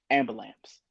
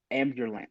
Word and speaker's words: ambulance: G start simple um ambulams um ambulance yeah so you know the actual word is ambulance what is it ambulance right however I